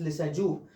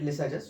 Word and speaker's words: Lissajous: Now, in the 1900s, there was a person called Lissajous, or actually his name is French, so the actual pronunciation is Lissajous, but most of us call it Lissajous.